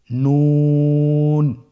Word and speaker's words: নুন: নুন হরফটি উচ্চারণের ক্ষেত্রে অবশ্যই পাতলা করে উচ্চারণ করতে হবে এবং তিন আলিফ টেনে পড়তে হবে।